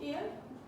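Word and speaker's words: heir: ईयर H silent है यहाँ पे, ठीक है, ईयर बोलते हैं इसको, ईयर।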